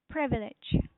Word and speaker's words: privilege: So it's a privilege for you, right? Good job. So this is really one of the great word to use. Privilege. Please make sure you pronounce it correctly. Privilege. Privilege. Privilege.